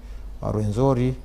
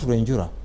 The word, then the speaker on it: Rwenzori: the foothills of Mount Rwenzori. That's Mount Rwenjura, that's the right word. Rwenzori was just a mispronunciation of the name.